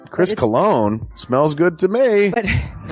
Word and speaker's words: Cologne: It is a self-published book by Christopher Cologne. Chris Cologne smells good to me. But Look at her. That broke that fucking cold little exterior. He's like, hee. but it is spelled C-O-L-O-N.